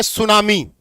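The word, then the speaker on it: tsunami: बताओ, जापानी भाषा में सु मतलब TSU प्लस नामी, इसको बोलते हैं सुनामी। टी इसमें साइलेंट है।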